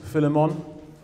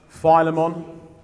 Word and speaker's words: Philemon: book of philemon philemon there's a few ways you can pronounce this philemon philemon or philemon that tends to be more american they tend to say philemon philemon i've always known it as philemon now it's a